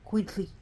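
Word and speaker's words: itzcuintli: i so it be it's Queen sorry it's quintly see the slush I'm trying my best so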